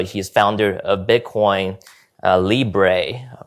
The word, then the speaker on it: Libre: So he's founder of Bitcoin uh Libre right.